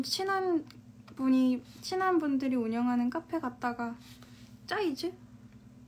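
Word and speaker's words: Zeiss: 그 제가 어떤 친한 분들이 운영하는 카페 갔다가 짜이즈? 이거를 짜이즈라고 읽는구나.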